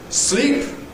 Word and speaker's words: sleep: Okay, they sound different. Sleep, slip.